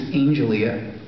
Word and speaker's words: Angelia: noticed her name tag her name tag was a-n-g-e-l-i-a and I said I said they're really really pretty Angelia that's really pretty and she said actually it's Angelia and I remember going to grab this notepad